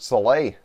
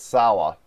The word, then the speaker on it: Saleh: yeah, so they're gonna lose Robert Saleh or Salah or whatever his however you pronounce his last name. I think it's Salah.